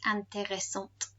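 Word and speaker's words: intéressante: is no longer on the end the feminine pronunciation is anteressant we do say the t let's look at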